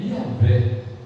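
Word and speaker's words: Yahweh: gente não colocar a vogal mas conseguir português pronunciar a palavra mas o senhor traduzir é yahvé que é a forma que nós respiramos que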